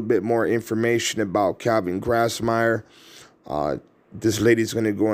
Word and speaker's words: Grassmier: Calvin Lynn Grassmier. Is that how you say it? Yeah, Grassmier.